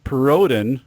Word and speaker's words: Perrodin: It is Perrodin, which apparently is French.